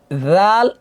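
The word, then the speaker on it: ذ: এই যে খেয়াল করেন এখানে একটা বিষয়, জাল জাল জাল জবর রা হয়, আর ঝা জবর ঝা। জাল আর ঝা কাছাকাছি, কিন্তু কিন্তু হালকা পার্থক্য আছে, এটা বুঝতে হবে।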